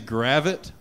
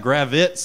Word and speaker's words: Gravit: my last name is gravit right and uh people just kept pronouncing it incorrectly at the open mic so they were adding like z's on it gravits and